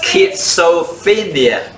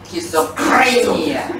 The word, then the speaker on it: schizophrenia: Schizophrenia，好易读嘅啫，跟住读。唔系，听清楚啊！听清楚。Schizophrenia。 Schizophrenia。